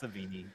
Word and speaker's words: Sevigny: But the cast: Simon Rex, Chloe, how do you say her last name? Sevigny? Yeah, I don't know. It's Savini. Savini. See it pronounced Savini.